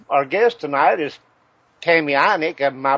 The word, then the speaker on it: Ineich: ladies okay uh our guest tonight is Tammy anik am I pronouncing that right anik it's German I iish we I'm just G